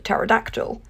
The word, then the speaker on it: pterodactyl: meaning spiral and ter with the silent P meaning feather or Wing like at the start of pterodactyl so a helicopter is